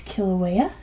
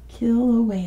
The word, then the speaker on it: Kilauea: at all they are see it was Kilauea kill away and make sure that I get it right yes and Mana lower Kilauea Mana Loa very good